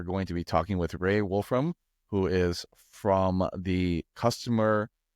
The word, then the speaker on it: Raae Wolfram: so let's get into it and then you pronounce my name beautifully as well Ray Wolfram a senior product manager sit right within engineering